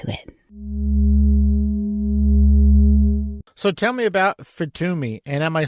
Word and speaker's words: FITUMI: So tell me about FITUMI, and am I saying that right?